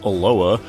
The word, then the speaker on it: ELOA: to look at eloa eloa standing for the mild the Ingy Elite Lord of alliance or simply pronounced aloa is an isometric perspective